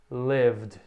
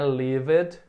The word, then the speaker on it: lived: Lived. Novamente, corta o E, não pronuncia, não é lived, e sim lived.